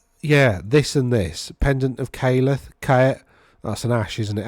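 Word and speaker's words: Khaeleth: Pendant of Caleth. That's an ash, isn't it? AE is pronounced ash. So if you think of the word ash, Caleth.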